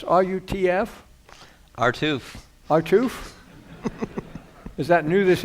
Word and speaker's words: RUTF: Do you pronounce RUTF? Artoof.